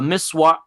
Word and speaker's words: miswak: And I didn't really actually even understand what he meant until I saw the miswak. How do you pronounce it, David?